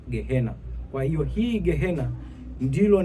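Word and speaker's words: Gehenna: Kwa maana hiyo neno bonde la mwana wa Hinom linapotamkwa katika kiania linatamkwa Gehinom. Lakini katika kiyunani linatamkwa gehena.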